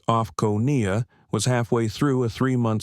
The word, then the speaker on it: OFCAO: She was flying for oversight as a senior investigator for the Office of Federal Civil Aviation Oversight, OFCAO, pronounced like offcoia, was halfway through a 3-month sweep of major US airlines, quietly auditing realtime passenger experiences.